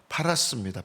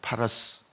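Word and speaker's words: פרס: 지금 전쟁을 하고 있는 이란이 바사입니다.이 바사라는 말의 히브리어 원문 그대로 발음을 하면 파라스입니다. 파라스.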